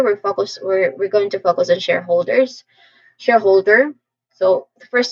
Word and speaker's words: shareholder: Then say whole. Whole, this part is the secondary stress. It sounds like they let the word HOLE. Whole. And finally say der. Der. There's a schwa sound, I think. Yeah. There's a schwa sound here, very quick and stressed syllable.